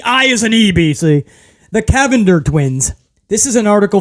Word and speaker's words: Cavinder: I butcher that unless they were like the kavinder twins right the I is an EBC the Cavender twins this is an article from people Sean